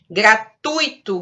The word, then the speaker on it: gratuito: Gratuito, gratuito, né? É junto, o tui, e é uma palavra paroxítona, né?